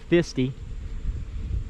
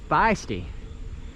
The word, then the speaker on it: Fisty: f i s y I was calling it fisty uh and the guy I was talking to was like this is feisty we don't spell it f i s y out here and I was like